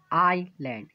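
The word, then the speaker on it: island: ऑयल कि बीच-बीच में एस हो तो एप्स साइलेंट पड़ता है जैसे आईलैंड यहां पर स्कूल नहीं जा रहा क्यों यहां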